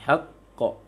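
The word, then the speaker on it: حق: Misalnya minal haq. Salah pengucapannya. Minal haq. Seharusnya minal haqq. Karena qaf tidak ada angin.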